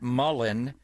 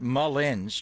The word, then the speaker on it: Mullins: with Charles Johnson and then you had not Mullen but Mullins Jeff Mullins and Chris's name is the most mispronounced name and I think in sport for